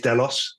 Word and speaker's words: Delos: today I have Alex Michael cbdo at Doos delos financial help I'm pronouncing it correctly Alex nice to have you here thanks very much H uh yeah is delos um there is a small story behind that